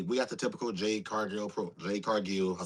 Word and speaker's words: Cargill: We got the typical Jade Cargill Jade Cargill. I said Jade Gargill. I call myself. I understand, sir. Relax. nah, Jade I'm Cargill. not mad. Jade Cargill.